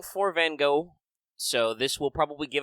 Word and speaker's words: Van Gogh: the history Vincent Willem Van Gogh and yes the Dutch pronunciation is with a little bit of guttural in there obviously I won't be